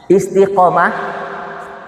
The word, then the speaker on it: istiqamah: Nah, sekarang materinya pada pagi hari ini catat ya materinya istiqamah ba'da Ramadan istiqamah ba'da Ramadan istiqamah Q pakai Q istiqamah dibacanya qo tapi tulisannya bahasanya Jisnya a istiqamah.